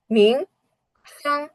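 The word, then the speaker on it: 名胜: Then scenic spot, মিং সাং, মিং সাং, মিং সাং, মিং সাং, মিং সাং।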